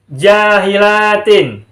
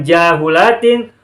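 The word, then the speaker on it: جاهلاتٍ: Nah, jadi bacanya adalah jahilatin. Bukan jahulatin, juga bukan jahalatin.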